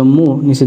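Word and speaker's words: 문: এবার দিলাম এটি হচ্ছে মৌম, মৌমের উচ্চারণ হয় ম, এর সাথে দিলাম উ, হয়ে গেল মু, নিচে দিলাম নিউন, মুন, মুন মানে দরজা, মুন মানে দরজা।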